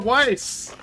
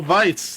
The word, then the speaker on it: Weiss: has been updated grimoire Weiss or vice I believe it's pronounced I'll kind of the